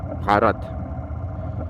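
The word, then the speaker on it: भारत: Бхарат. Как-то они произносят так. Бхарат.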